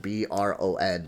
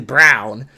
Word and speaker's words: Braun: you I know that Braun and Braun is spelled different b r o n b r a u n but they both say Bron but I guess since Braun is actually Brown I like LeBron I